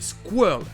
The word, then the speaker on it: squirrel: Bon là c'est assez particulier, c'est squirrel, avec un I qui se prononce comme le E, mais un E qui est muet.